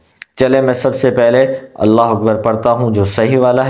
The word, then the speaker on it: اللہ اکبر: کو درست کریں۔ چلیں میں سب سے پہلے اللہ اکبر پڑھتا ہوں جو صحیح والا ہے، اس کے